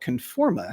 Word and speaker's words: Conforma: There's a company called Conforma, Conforma. It's spelled like it sounds.